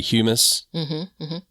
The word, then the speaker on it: humus: I think it's just, it's the function of stuff breaking down I don't know how to say it, humus. Is that right? Yes, that's right.